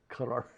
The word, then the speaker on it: Qatar: Some people, we don't pronounce it very well in English, but Qatar.